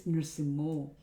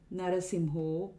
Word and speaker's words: Nṛsiṁho: The next one is Nṛsiṁho. Ito Nṛsiṁha, parato Nṛsiṁho. Again, it shouldn't be Narasimho or Nṛsiṁha or any other combination thereof.